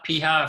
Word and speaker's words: Piha: people yeah the steve piha piha that's the right pronunciation um really early agilist